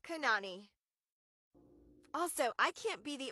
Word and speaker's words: Kanani: It is not in fact pronounced Kalúa or Kanani. It is Kanani.